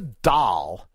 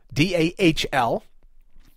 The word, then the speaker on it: Dahl: let you know that Melissa Dahl, D-A-H-L, Dahl, Dahl. I'm not calling her a doll like a D, what would it be, D-O-L-L.